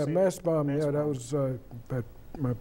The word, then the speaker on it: Mastbaum: Yeah, Massbaum, yeah, that was at my pre-college school, and then I went to Juilliard.